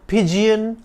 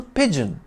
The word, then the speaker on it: pigeon: with a bobbing gate is not a pidan Pidgeon or pyen but a humble pigeon with a stress on the first syllable flying in from Middle